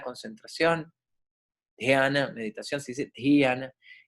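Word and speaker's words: ध्यान: los sentidos, dharana, concentración, dhyana, meditación, se dice dhyana, y samadhi, la pronunciación, ahí dice supraconciencia, ¿verdad?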